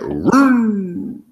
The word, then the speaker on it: Roode: You know how he would announce it as Bobby Roode. That's how he did it back in the day. Yeah. Roode.